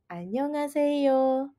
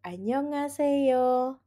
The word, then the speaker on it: 안녕하세요: iya ke dalam kata annyeonghaseyo sehingga menjadi ne annyeonghaseyo atau ye annyeonghaseyo. Yuk kita latihan.